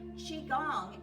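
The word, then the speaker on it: qigong: Tai Chi, first of all, is spelled T A I C H I. Chiong is Qi G O N G.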